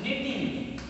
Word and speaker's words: knitting: which is nothing but knitting. Here K is silent, and this is called as spinning only one yarn will be there.